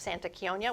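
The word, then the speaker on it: Santa Chionia: the Lost Boy of Santa chion Kia cuz it's Italian Kia the Lost Boy of Santa Kia which I'm I can't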